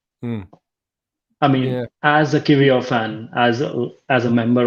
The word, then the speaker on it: Kiwior: far as more it's kivio um obviously in Polish you pronounce your W's as V's um so yeah kivio is is that or